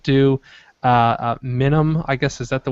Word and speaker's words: Minuum: Minimum, I guess, is that the way you pronounce the keyboard? Minuum. Minuum. It's like continuum, but minuum.